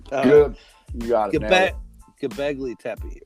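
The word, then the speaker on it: Göbekli Tepe: Gabogli Tepe. Can I say it right? Good. You got it. Gabegli Tepe, right?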